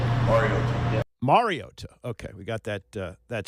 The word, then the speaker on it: Mariota: I think it's been said over the years like Mariota, which is incorrect, and it's pronounced Mariota. Mariota.